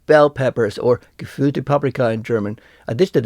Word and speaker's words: Paprika: for bell pepper is paprika with stress on the first syllable paprika just like the